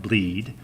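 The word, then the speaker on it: blead: Perl 5 repository is called bleed spelled ble ad pronounced bleed if we suspect that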